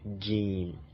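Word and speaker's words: جيم: And the fifth one, which is this, is pronounced to be jim. It's called jim, like the J sound, as in joke, jim.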